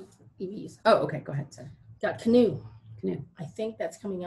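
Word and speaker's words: Canoo: if no is the name of the company canoe yeah it's kind of how do you spell it let me find it c-a-n-o-o canoe yeah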